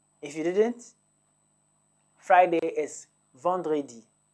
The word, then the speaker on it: vendredi: If you didn't, Friday is Vendredi. Vendredi.